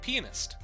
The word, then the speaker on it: pianist: Please add one more syllable to pianist. That's how you say the word. You say it like pianist.